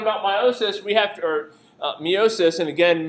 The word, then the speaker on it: meiosis: When we start talking about meiosis, we have to, meiosis, and again, meiosis is really pronounced meiosis, but I overpronounce it for the purposes of this class.